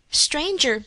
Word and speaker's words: stranger: and sum and home stranger does not rhyme with anger neither does devour with